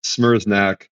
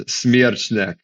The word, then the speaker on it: Smereczniak: So you were close on like the actual authentic pronunciation. The Americanized is Smereczniak. The Polish version is Smereczniak, which is closer to what you.